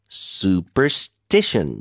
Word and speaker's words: superstition: saying it was just a silly superstition. 자, 미신 발음 도와드릴게요. Superstition. 음. Super션 super. 다음에 st션 거기다 강세해 주세요.